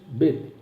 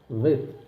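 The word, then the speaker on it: ב: Por exemplo, a letra Bet. Se tem dagueche, Bet. Se não tem dagueche, Vet.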